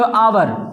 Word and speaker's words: hour: हमने जैसे कह दिया बाबू जो आवर, अब ये लिखा तो है HOUR, लेकिन H इसमें क्या है? साइलेंट है।